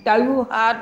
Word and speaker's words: त्योहार: त्योहार, तो त्योहार ये सही शब्द है, त्योहार नहीं बोलते कोई, त्योहार नहीं बोलते, त्योहार, हाँ, ओ की मात्रा लगी है, औ की नहीं, इस तरह से।